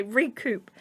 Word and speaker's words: recoup: never say that word recoup it is you pronounce the P don't you you do yeah cuz I always think it's like a coup like you know when you get like so okay recoup so she doesn't know